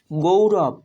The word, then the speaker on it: গৌরব: এই সম্পূর্ণ উচ্চারণ হবে কৌতুক। গৌরব, গয়ে ঔকার গৌ, র ব, গৌরব, গয়ে ঔকার গৌ, র ব, রব, গৌরব।